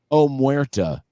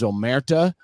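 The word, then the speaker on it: Omertà: And how do you pronounce that? Amatura? Omerta. It's the code of silence for the mafia, I believe, is Omerta, and it was some kind of mashup.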